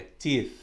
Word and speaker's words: teeth: no plural que é teeth só que a gente rela língua do dente de cima né tith teeth que é o plural